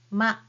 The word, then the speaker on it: ま: You have your upper lip and lower lip touch together and then attach these vowel sound at the end. So the first one is ma.